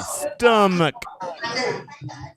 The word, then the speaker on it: stomach: roll that one tracy stomach so much what did i just say it's not gesture no h the h is absolutely silent absolutely no no no no h stomach oh so much